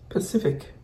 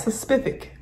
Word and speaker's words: specific: Pacific. Oh, I said it, Pacific. Because it's spelled with an S, specific.